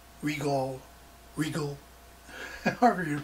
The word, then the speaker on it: Rigol: video on this uh rygall regal regal and harder to pronounce it i think if they wanted it pronounced regal they would have spelled it r e g r-e-g-a-l but anyway it's uh the